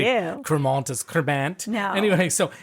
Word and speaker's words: Crémant: And it's spelled Crémant, but I say Crémant because I'm trying to say it in the French You're way.